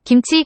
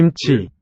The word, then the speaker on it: 김치: And chi, 김치, second syllable, also aspirated.